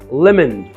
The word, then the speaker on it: lemon: دي هي الكلمه دي نطقها lemon، حرف الاو ما بيتنطقش، اوعى تنطقها ليمون.